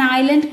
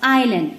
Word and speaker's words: island: When you are pronouncing it, you have to pronounce island. The spelling is I-S-L-A-N-D. But you must not pronounce Island because S is silent in that word.